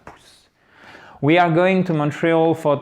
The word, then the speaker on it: Montreal: Montreal, accent tonique, là c'est un peu spécifique, c'est sur la fin. Montreal. Montreal.